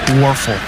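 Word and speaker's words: Wuerffel: So it's so nice to be able to acknowledge them with awards like the Werfel Trophy, W-U-E-R-F-F-E-L, Werfel. There. You learn how to spell that a couple decades ago.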